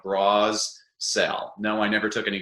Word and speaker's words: Brassell: well my name is danny brasel my last name is really easy to remember how to spell it's about like bras sell no i never took